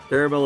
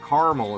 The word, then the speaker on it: caramel: other way see caramel is the more like Midwestern American way to say it or like Californian but caramel is how you say it in the South caramel caramel chocolate ice